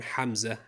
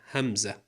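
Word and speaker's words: همزة: No, not the famous male name Hamza, Hamza.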